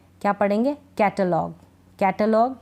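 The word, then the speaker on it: catalogue: जी यू ई अ इन जी यू ई का उच्चारण हम ग पढ़ेंगे इनको जैसे क्या पढ़ेंगे कैटलॉग कैटलॉग डायलॉग टंग यानी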